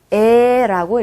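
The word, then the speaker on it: Э: 읽을 때는 에라고 읽어주시면 됩니다. 에. 에처럼 발음이 나요.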